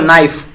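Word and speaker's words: knife: जैसे उदाहरण के तौर पे एक वर्ड हम लेते हैं, ठीक है दोस्तों, नाइफ, ठीक है।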